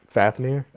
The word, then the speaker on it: Fafnir: TGL fanfare is a sandwich member, so. Fafnir? Yeah, Fafnir, yes. I always say fanfare.